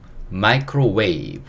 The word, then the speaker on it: microwave: 그 다음에 V가 V 소리. 그 다음에 E는 묵음입니다. 그래서 이거는 microwave 요렇게 읽을 수 있어요.